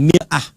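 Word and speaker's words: مرآة: Bahkan sering sekali orang Arab punya perumpamaan dengan mir'ah. Ya, kalimatnya sama, cuma cara bacanya beda. Al-mar'atu kal mir'ah. Yang satu pakai fathah, yang satu pakai kasrah.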